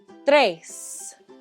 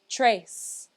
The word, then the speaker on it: tres: it one more time tres if you can't quite roll your r's just say trace that's okay i'll give you a